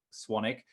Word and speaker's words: Swanwick: name is spelled s-w-a-n-w-i-c-e-k it's spelled swan wick even though it's pronounced sonic but you can find